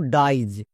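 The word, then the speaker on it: dies: tips এর মাধ্যমে বুঝো যেমন দেখো ডাইজ এখানে শব্দের শেষে আই ই এস আছে এর জন্য উচ্চারণ হয়েছে আইজ যেমন ডাইজ এবার কোশ্চেন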